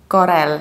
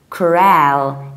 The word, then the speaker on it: Corel: a drawcord wrath both of these words I mispronounced hair it's not coral guys it's corral its corral or corral but you stress the